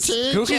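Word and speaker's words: Gurgi: Dude, Googie's going to have sexual...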